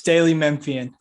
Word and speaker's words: Daily Memphian: Is it Daily Memphian? Is that how we pronounce that, Drew? Yes, Daily Memphian.